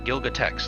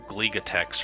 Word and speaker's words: Gilgatex: It's Gilgatex, like Gilgamesh, but from Texas. More often than not, people will they think the L comes first, like they call me Gligatex or something like that.